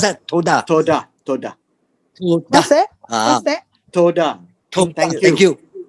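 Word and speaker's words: תודה: You how to pronounce that? Toda. What's that? Toda. Thank you. Oh, what's the mean? You mean Toda. Hebrew. Thank you. Hebrew. That was Hebrew. Toda. Toda. How cute. Toda. Also provide Toda.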